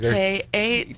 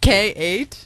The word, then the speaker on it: K8: letter K number eight pronounced just like your first name yeah but most people